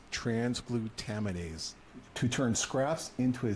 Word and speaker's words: transglutaminase: It's actually pronounced transglutaminase, to turn scraps into a solid-looking fillet.